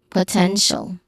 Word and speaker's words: potential: Well, focusing on pronunciation for potential. So the third syllable is the stressed one, potential. No, second syllable, 10. Potential. Again, potential, which has 10 has a short e sound.